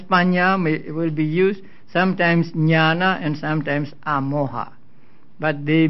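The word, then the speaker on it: ñāṇa: a few days ago the dot beneath the the letters mean that they are to to be pronounced with the uh with the front of the tongue touching against the heart pellet they are called cerebrals so nyana and the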